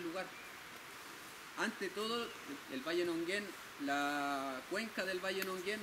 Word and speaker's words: Nonguén: Los mapuches lo pronuncian Muñén. Y lo castellanizaron y le pusieron Nonguén.